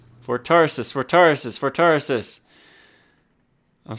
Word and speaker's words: Tarsus: for Tarsus forces for Tarsus for terraces for Tarsus I'm saying it I'm saying it right I